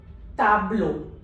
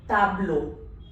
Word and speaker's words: tableau: So the word becomes gato, auto, tableau. Gato, auto, tableau. EAU becomes O. T, as we have discussed, it's always ta. A is always A. So this becomes tableau.